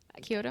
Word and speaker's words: Kyoto: Kyoto.